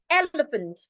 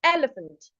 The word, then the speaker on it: elephant: stress in elephant okay we're going elephant elepant so you're stressing the first part elepant elephant okay while we you're